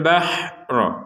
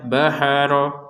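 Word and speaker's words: البحر: Wa idh faraqna bikumul bahro. Perhatikan di sini ha nggak ada pantulan. Jadi jangan dibaca baharo, baharo nggak ada pantulan sama sekali.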